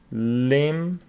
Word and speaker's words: limb: Thumb, the B is not pronounced. For example, we have limb.